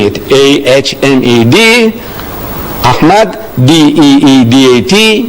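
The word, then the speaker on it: Ahmed: She says, spell it. So I started spelling it. A-H-M-E-D, Ahmad, D-E-E-D-A-T, Deidat.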